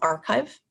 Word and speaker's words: arXiv: It's called Archive. It's spelled ARXIV, and that is for the physical sciences.